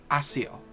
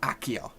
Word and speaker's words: Accio: Like, that's how they said it in the Harry Potter audiobooks, was Accio, not Accio. Like, it was a soft C sound.